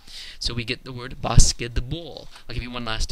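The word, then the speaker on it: баскетбол: The word in Russian for basketball is pronounced basketball. Very, very distinct D in the middle of the word, even though it's written with a T.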